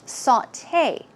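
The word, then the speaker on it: sauté: gourmet and we have saute remember sauteed blah blah blah it's a way of or preparing food and it's pronounced saute saute it's not saute its saute and recipe you may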